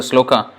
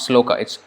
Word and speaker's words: śloka: when we show the sloka Slocombe it's not slow kites sloka sloka is the first one sloka and Prabhupada was